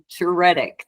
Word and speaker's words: Djuretic: Light number 29 we are here with Tina jtic did I get that right you did well